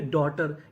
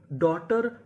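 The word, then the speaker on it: daughter: जैसे डी ए यू जी एस टी ई आर इसे पढ़ेंगे डॉटर यहां पे जो यू जी एच है ये हमारा साइलेंट रहेगा टी एच ओ यू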